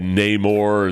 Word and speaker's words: Namor: know man then they had Namor and they pronounced it Neymar or what it's just